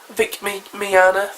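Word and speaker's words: Vic Mignogna: Anime voice actors um there's Vic Miana going Vic Miana that's how you pronounce it from FUNimation he played Edward El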